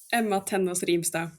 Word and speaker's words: Ema Tennås Rimstad: So our guest today is Emma Tennos Rimstad. Emma Tennos Rima.